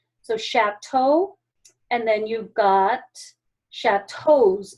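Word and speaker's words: château: a chatau is chatau it's sh because it's pronounced like an sh so shatto and then you've got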